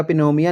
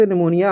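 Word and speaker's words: pneumonia: तो दोस्तों देखो इसका जोड़ा है ना, यह पी जी है साइलेंट रहेगी, यह निमोनिया बनेगा, पिनोमिया नहीं बनेगा, ये निमोनिया जी बीमारी होंगी है।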